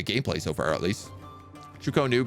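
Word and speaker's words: Chu-Ko-Nu: Chukonu better, not Chokanu.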